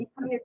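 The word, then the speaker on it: Ethernet: यस, यू are trying अथरनेट टू नहीं से यस भैया, सर, इसको यस सर। इथरनेट बोला जाता है।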